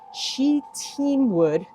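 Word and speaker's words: shittim wood: Shidamwood, pronounced sheet teamwood.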